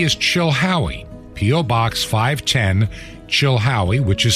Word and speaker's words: Chilhowie: 510 the city is Chilhowie PO Box 510 Chilhowee which is spelled c-h-i-l-h-o-w-i-e Chilhowee Virginia and the zip code in Chilhowee Virginia